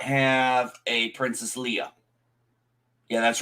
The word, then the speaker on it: Leia: And I did not have a Princess Leia. Yeah, that's right. I say it like Lando did. Leia, not Leia, Leia.